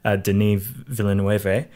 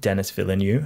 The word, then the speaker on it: Denis Villeneuve: watching an interview with de Neve Villanueva I think is how you pronounce his name not Dennis villain you as I used to say it mm-hmm but he